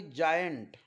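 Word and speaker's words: giant: letter जी नंतर येईल तर जी चा उच्चार ज असा करावा जेणेकरून शब्द वाचत असताना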